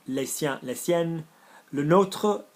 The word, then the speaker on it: nôtre: There's an accent on the O. So you're almost saying it the way, with all due respect, a lot of Americans pronounce Notre Dame. Yeah, notre. So that's how you say our one. Le nôtre, not notre.